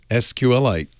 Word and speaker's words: SQLite: because i've always said sqlite but then i found an interview with the creator of it and he says it's pronounced like the mineral sqlite you